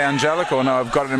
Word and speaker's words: Angelico: I said it correctly he himself pronounced it with a J for real for real he's going for Angelico we're going to have to have a conversation about this I always believed it was anelo well a hell was